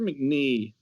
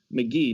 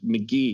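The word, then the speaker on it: McGhee: I believe it's Heather McNee. I'm looking it up right now. I gotta spell it out of my head. Why is there Heather McGee, not McNee, McGee.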